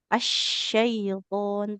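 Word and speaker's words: الشيطان: Huruf shin. Asyaiton. Tengah lidahnya menekan ke langit-langit.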